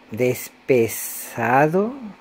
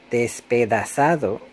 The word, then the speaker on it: despedazado: Además de decir despesado, que debería ser dicho despedazado, también hay un punto en donde digo los elefantes pistoteaban, debe ser pisoteaban.